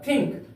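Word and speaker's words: think: clear प्यारे बच्चों देखिएगा कभी कभी ए किसी शब्द के बीच में होता है तो उसका उच्चा उच्चारण अनुस्वार की तरह होता है जैसे Frank F आर ए एन के फ्रैंक फ्रेंक फ्रेंक का अर्थ होता है साफ दूसरा उदाहरण ते हैं थिंक टी एच आई एन के थिंक यहां पर एन का प्रयोग अनुस्वार के तरह हुआ है इसलिए इसका उच्चारण होगा थिंक थिंक का अर्थ होता है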